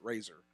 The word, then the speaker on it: Reiser: it's spelled Reiser but they pronounce it razor alright yeah that guy